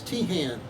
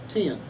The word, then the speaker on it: Teahan: in the united states it's teahan in ireland it's pronounced tian so your family is irish h-a-n and one one way you emphasize the h and the other you ignore it i see and who is